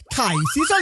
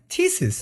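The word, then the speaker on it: thesis: ডাক্তারও হতে পারে, ইঞ্জিনিয়ারও হতে পারে, আবার ধরুন ওই থাইসিসও লিখতে পারে। থাইসিস নয়, থিসিস। ওই একই হলো, কায়দা করে উচ্চারণটা করলাম আর কি।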